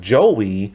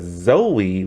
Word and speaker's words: Zoe: who mispronounced her name calling her joey with a j instead of zoe with a z and so but they're